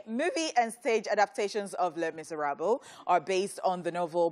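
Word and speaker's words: Les Misérables: sang alive on set Les Miserables Les Miserables that's how you pronounce Les Miserables Miserables but it's French it's a rebel it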